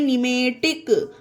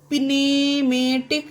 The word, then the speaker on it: pneumatic: ये देखिए PNEUMATIC इसे पढ़ते हैं निमेटिक। निमेटिक, अब यहाँ पर पिनेमेटिक नहीं लिखा गया है, ना ही पढ़ते हैं इसको, क्योंकि यहाँ पर पी साइलेंट है। और पी साइलेंट क्यों है? क्योंकि पी के बाद यहाँ पर एन आया है। ठीक है गाइस, पी के बाद एन आए तो पी साइलेंट रहेगा, तो इसे पढ़ते हैं निमेटिक।